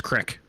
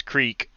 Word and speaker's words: creek: and yes 10 shot it's crick that's how you pronounce that i agree get get out of the sun a little bit it's creek it's crick quick i'm from i'm from the midwest dude it's it's crick i'm a redneck it's